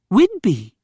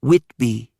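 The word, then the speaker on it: Whidbey: Whitby is spelled wh I D B E Y. Whidby, not Witby.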